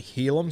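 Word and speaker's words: Heilum: I have been saying for the last few weeks, Hylam. It's actually Helam, so apologies to Helam Luki. I've been pronouncing his name wrong.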